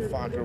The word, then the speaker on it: Fokker: a few families called Fokker, which was the Dutch. There's a Dutch. You've heard this? It's spelled F-O-K-K-E-R, Fokker.